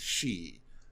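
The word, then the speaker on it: 四: Yeah, because the one way to pronounce four is she, which is death also in Japanese.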